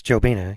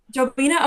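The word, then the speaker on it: Jobyna: So that was with Mina Louise Dresser and I hope I'm pronouncing this right. Joina Howland. I think it's Joelena. Yeah, Joelina. Okay, perfect.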